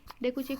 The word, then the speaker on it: Dokuchaev: ठीक, डोकुचेव की स्पेलिंग हो जाती है DOKUCHAEV, डोकुचेव।